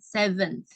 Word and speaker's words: 7th: Kemudian kalau versi American, ya contohnya, today is March 7th. Jadi walaupun 7 di sini tidak ada TH-nya, tapi tetap dibacanya tuh ada TH-nya ya, 7th.